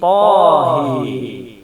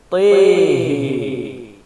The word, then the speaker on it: Taha: Maka kita akan membaca menjadi Taha menjadi Tahi. Itu yang pertama. Yang kedua, lafaz Taha bisa dibaca dengan mengimalahkan huruf ta dan huruf ha. Lafaz Taha kita membacanya menjadi Tihi.